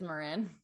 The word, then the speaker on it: Marin: It's actually pronounced Marin. Marin. I think. Hold on. Yeah, Marin. Yeah, it is Marin.